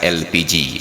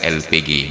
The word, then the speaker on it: LPG: Inggris Maka disebutlah gas elpiji bukan gas LPG numpang akarnya Hei kamu kenal pas Indonesia pakai ejaan Inggris seharusnya itu LPG bukan elpiji tapi mulai dari pemerintah